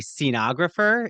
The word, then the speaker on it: scenographer: a playwright an educator I think it's a scenographer is that how you say iter yes yes first I was gonna say a stenographer but a stenographer is very different no very different very